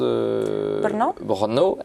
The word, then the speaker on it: Brno: deuxè ville du pays qui se prononce brnau ça s'écrit Brno o donc pour un Français c'est pas facile à prononcer dans la culture chrétienne